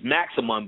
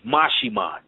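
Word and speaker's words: Maximón: And I explained the entity name is, it looks like it's Maximon, but it's Mashimon.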